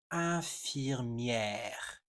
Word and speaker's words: infirmière: Ce mot est souvent mal prononcé par les anglophones et parfois même par des francophones. infirmière infirmière a lot of people for some reason